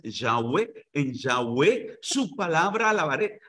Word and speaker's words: Yahweh: En Jehová, que la mejor pronunciación es Yahweh.